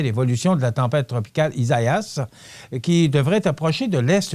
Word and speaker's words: Isaias: Ça s'écrit E-S-A-I-A-S, donc Isaias.